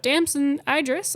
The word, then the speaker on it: Damson Idris: this about Pierce about Damson Idris I believe is how you say his name about his character and